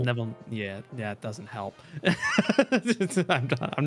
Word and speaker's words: Neville: Neville. Think Mr. Neville rhymes with level. Neville.